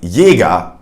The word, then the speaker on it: Jäger: The J is mainly pronounced as a Y, which you know from the Y sound. For instance, in words like Jäger, which means hunter.